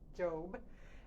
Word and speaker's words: Job: The one that's spelled like Job, but pronounced Job.